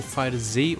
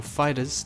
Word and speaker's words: FighterZ: Next up, we have Dragon Ball FighterZ, or Dragon Ball Fighters, depending on how you like to pronounce it.